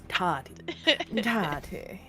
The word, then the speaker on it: Tahti: I almost said Tahiti. Yes, it happened. Tahiti is a wonderful place. Fuck. Tati. Tahti. Like a hot These- toddy.